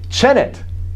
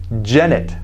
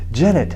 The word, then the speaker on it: Janet: I say, Chenet. And she says, present. However, my name is not pronounced Chenet. The name is Janet. Janet, not Senate, not Chenet, Janet. Oh, like a J.